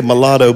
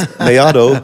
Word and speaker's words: Mellado: I wanted to pronounce it. Mellado. Some people say Mellado, but it's not right. It's Mellado.